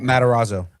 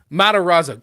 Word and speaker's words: Matarazzo: Uh, so Gayton, I never pronounced his name. Matarazzo. Matarazzo.